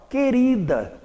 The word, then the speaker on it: querida: um pouco de atenção, porque às vezes esse U do encontro GU ou QU é pronunciado, e quando for, não vai formar um dígrafo. Por exemplo, aqui eu tenho a palavra querida, querida. Ele aqui, o U desapareceu.